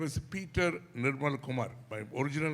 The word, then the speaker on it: Nirmal: அப்போ நியூசிலாண்ட் போகும்போது அங்கே வெள்ளைக்காரங்க நியூசிலாண்டர்ஸுக்கு வந்து they couldn't pronounce. அவங்களுடைய ஒக்காபுலரியில் ஆர் கிடையாது. மங்க, டமால். So you're killing my name. Nirmal is a nice name. No, Nimal.